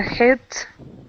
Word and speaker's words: heat: SEC this word uh heat heat okay he it sounds a bit at the moment you're saying a bit hit yeah like hit heat